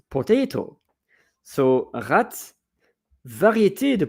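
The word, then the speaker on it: ratte: Dutch it's potato so rat variet the P so variant it's of it so it's a variety of potato r a t t e and the pronunciation is the same as rat voila uh and so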